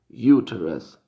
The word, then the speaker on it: uterus: Y en inglés médico se pronuncia uterus, uterus, uterus, ¿sí?